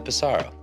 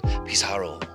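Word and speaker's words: Pissarro: about your pronunciation yeah I think it's okay to just americanize and say Camille pisaro all right unless you really speak French be like Camille pisaro that's probably what he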